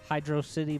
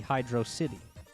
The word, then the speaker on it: Hydrocity: this here zone is they say, like, no, but don't you get it? It's water, hydro, and a city, so it has to be Hydrocity.